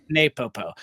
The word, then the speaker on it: NePoPo: And for those that are not familiar with the And is it pronounced Nepopo or Napopo? I've heard both. Napo. Napopo.